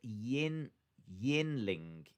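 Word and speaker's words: Yuengling: yuang ling is pronounced yin yin ling it's a beer brewed in tampa oh that's interesting so you don't pronounce the middle g it's just yin ling i'll write that down yen ling i've never heard of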